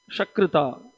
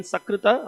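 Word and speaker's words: शकृत्: There is a difference between sakrita and shakrita. When you say sakrita, sakradeva prapannoyam, sakrid means it's once. And here it is shakrid, means it refers to cow dung, right?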